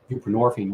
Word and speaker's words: buprenorphine: It has roots, in the 70s and whatnot, and just replace your narcotic with something else, whether it's Suboxone, which is buprenorphine, rhymes with morphine, or methadone, ditto, and